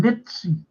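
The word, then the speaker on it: Nizza: Now, going back to where he's born, in Nizzi. This is the Italian, how you say it.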